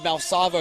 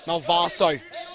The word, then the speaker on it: Malvaso: apologise for pronouncing his name wrong before. I said Malsavo, it's Malvaso.